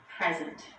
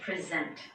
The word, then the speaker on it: present: In those 2 words, the stress is on the first syllable, present. In contrast, when the stress is on the second syllable, we say present.